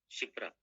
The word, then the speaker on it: Kshipra: शिप्रा, KSHIPRA, शिप्रा, के इसमें silent होता है।